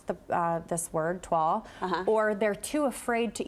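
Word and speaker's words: toile: of grandma's dining room wallpaper i would say tuall you are correct really but i would say 80 percent of of people that i run into min either mispronounce the uh this word twal or they're too afraid to even attempt to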